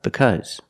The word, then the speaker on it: because: a sound ow and then because it makes it sound uh because and if you know